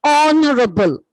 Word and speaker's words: honorable: Similarly, honorable. Honorable. H-O-N-O-U-R-A-B-L-E. All these have the same pronunciation.